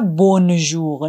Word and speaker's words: bonjour: On dit bonjour généralement jusqu'à 18h. Bonjour. On ne prononce pas le N complètement. Le son N vient du nez. Donc on dit pas bonjour.